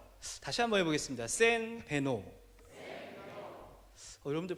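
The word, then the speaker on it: Сайн байна уу: 센 베노. 다시 한번 해보겠습니다. 센 베노. 여러분들 발음이 굉장히 좋으셔서 몽골 가셔서 사셔도 괜찮을 것 같습니다.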